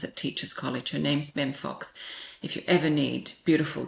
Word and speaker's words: Mem Fox: Mem Fox, M-E-M, short for Miriam.